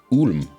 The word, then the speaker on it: Ulm: It's going pretty well, but I'm pretty sure it's pronounced Ulm. Is it? I don't know. Oh. I'm not German. They should spell it like O-O-L-M then, if they want it pronounced Ulm.